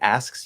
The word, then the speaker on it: asks: that work yes in in a word like asks you can do that by lengthening the s we still probably want